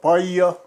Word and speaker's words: Paia: I was born in the town of Paia. Can you spell it?